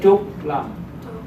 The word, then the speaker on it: Trúc Lâm: Trúc Lâm.